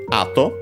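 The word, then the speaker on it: 後: After that, we get ato. Ato, we have seen it before, should be accent on the first syllable, and it is.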